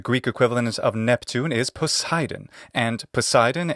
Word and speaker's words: Poseidon: equivalent of Neptune is posidon and posidon In classical adic pronunciation is poson or in modern Greek pronunciation posidon the atmology of the